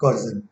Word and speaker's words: coercion: इसका मतलब होता है जब किसी चीज के लिए कोई आप दबाव डाले, प्रेशर डाले, दैट इज कोर्जन।